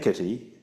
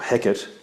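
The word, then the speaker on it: Hecate: Um so act three scene five where he or heck pronounced both ways uh by Shakespeare um attacks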